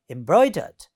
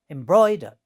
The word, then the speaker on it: embroidered: Similarly, second word, you see, embroidered. So here it has 3 syllables, and the second one, embroidered, this one is stressed.